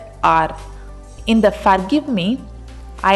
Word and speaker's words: Qatar: It may sound like there is stress on the first syllable, she says, but that's because QAF is a strong starting sound.